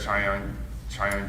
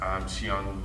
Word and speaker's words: Chiyong: Chiang, am I pronouncing your name correct? Chiang, sorry.